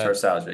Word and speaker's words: metatarsalgia: Metatarsalgia, is that how you pronounce that? Metatarsalgia, yep, you got it.